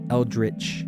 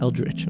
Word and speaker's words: eldritch: Eldritch. Eldritch.